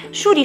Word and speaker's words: sciuri: una canzone siciliana famosissima sciuri sciuri che a seconda dei diversi dialetti siciliani può anche essere pronunciato ciuri ciuri e significa fiori fiori